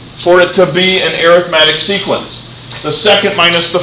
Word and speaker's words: arithmetic: normally we've talked about it as the word arithmetic when we're talking about a pattern of numbers it's pronounced arithmetic in terms of its pronunciation it's just a